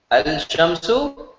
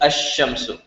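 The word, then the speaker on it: الشمس: Al-shamsu should be ash-shamsu. You have to pronounce it correctly with the shadda. So not al-shamsu, ash-shamsu. Because lam and sheen are close together.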